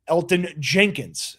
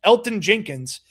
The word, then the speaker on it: Elgton Jenkins: about a name like Elton Jenkins. Now, I know there's a G in his name. The G is silent. Elton Jenkins is his name.